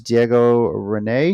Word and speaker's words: Diego Rene: Johnny Rocket versus Diego Rene. Is that how you pronounce it?